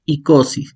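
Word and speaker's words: εἴκοσι: Entonces, si encontramos un diptongo que es EI, se pronuncia solamente I. Ejemplo, tenemos ICOSI.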